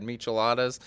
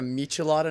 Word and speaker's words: michelada: the past two days have I been saying it wrong my whole life is it a michelada not a michelada I don't